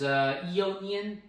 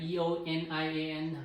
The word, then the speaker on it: Eonian: Today I'm going to cover, I'm pretty sure it pronounces as Eonian, like E-O-N-I-A-N, Eonian, from Expelled from Paradise, arranged by Animenz.